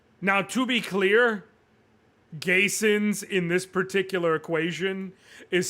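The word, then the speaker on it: Gheysens: His Chris Gayens. Now, to be clear, Gayins in this particular equation is spelled G H E Y S Ns.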